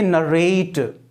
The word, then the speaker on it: narrate: जैसे मैंने कहा NARRATE, तो इसका प्रोनाउंसिएशन करेंगे नरेट, व्याख्या करना, वर्णन करना।